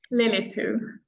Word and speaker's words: Lillitou: everyone to um pronounce your last name for me lilitu lilit where in greed Lily to the first one yeah the first syllable Lily to right I always say